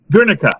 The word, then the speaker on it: Guernica: Guernica, that's how you pronounce it.